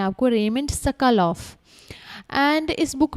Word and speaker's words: Raymond Sokolov: इसको सही प्रोनाउंस करना है आपको, रेमंड सकलोफ।